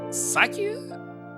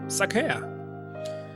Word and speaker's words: sake: For example, in the wine store, they pronounce sake like sake? Well, it's sake.